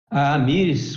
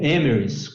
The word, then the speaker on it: Amyris: pouquinho mais da empresa e a miss como a gente fala aqui no brasil ou emerson como o pronunciam nos estados unidos é uma empresa americana